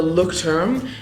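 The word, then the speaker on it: Leuchtturm: at a bookstore it is it's called the look term I think it might be from ger it's from Germany it's spelled l e I don't even know if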